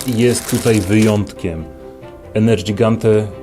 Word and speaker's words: Nergigante: Nerdżigante, Nerdżigante, Nerdżigante, nie Nergigante Za dużo z Madzionką przebywam czasu i ona zawsze mówi ,,Nergigante!"